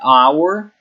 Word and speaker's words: hour: Por exemplo, hour significa hora também, hour, e hour inicia-se com um A na pronúncia, não com um H, né?